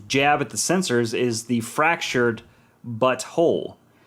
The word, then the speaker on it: The Fractured But Whole: at the censors, is The Fractured But Whole. So it's the fractured, but then it's spelled B-U-T and then W-H-O-L-E, but you say it together, and without context, it's, that's them going, we'll get you.